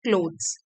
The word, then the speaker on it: clothes: सिलाई करी गई होती है उसको बोलते हैं क्लोथ्स, ठीक है, क्लोथ्स।